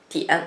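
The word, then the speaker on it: diǎn: Le point en chinois, ça s'appelle dian. Dian. Si je vous écris, c'est beaucoup plus compliqué. Donc, en pinyin, c'est di-i-an, dian, troisième ton, di-i-an, dian.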